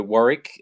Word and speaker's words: Warwick: It's silent W in the middle, so Warwick. Warwick. AKA most folk. That's it. Minus the A, just right. Okay. I'm like past tense. Not is.